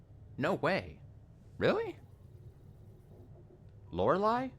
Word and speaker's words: Lorelei: I have to look at how to spell lorai lorai is such a stupid name I got